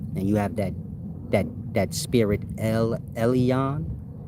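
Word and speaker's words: עליון: When you read in like ancient Hebrew literature, and you have that spirit Elyon, pronounced Elion, like alien.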